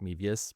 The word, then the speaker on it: Mevius: It's actually, technically, I don't because my last name's pronounced Mevius, but I do Mev to make it easier for people to spell, g a v i o n m e v.